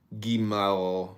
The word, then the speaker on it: Gimel: Gimel, pronounced Gimal, hard G.